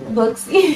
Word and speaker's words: Booksy: Like social media, or do the Booski app help y'all with that? I don't even know if I'm saying it right. Booksy. Booski, yeah.